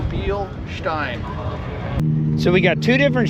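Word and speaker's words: Bilstein: you pronounce it well the proper way the way to think about it is thinkk Jessica Beal and then beer stein so be Stein so we got two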